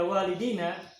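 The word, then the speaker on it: والدين: masing-masing dua, sedangkan baca walidina para orang tuanya banyak karena dikalikan banyak. Nah, sehingga tidak masalah kita membacakan walidaina atau membaca walidina.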